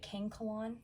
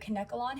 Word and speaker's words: Kanekalon: I was calling it Kankalon because that's how it's spelled, but Kanekalon hair.